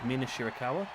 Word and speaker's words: Mina Shirakawa: And now a rollover pin attempt there by Mina I told you I'm going to butcher these names. Mina Shirakawa?